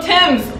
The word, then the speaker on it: Thames: Oh, Thames, there we go. Okay, so I think it's called the Rimmer Thomas because it's spelled T-H-A-M-E-S, but it's Thames.